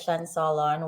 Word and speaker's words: Cien Solon: You did pronounce it correct. That is Shen Solon.